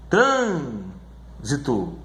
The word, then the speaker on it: trânsito: Por exemplo, a palavra trânsito, trânsito, ela é uma proparoxítona, sílaba mais forte é essa daqui, ó, certo?